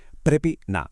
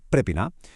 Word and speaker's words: Πρέπει να: A ver, la clave indiscutible de todo este asunto es precisamente esta expresión prepina, que se pronuncia prepina.